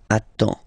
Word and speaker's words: attends: Okay, you get D and S, well, basically you don't pronounce them, okay, and then you get only the sound attends, nasal here, en, j'attends, okay.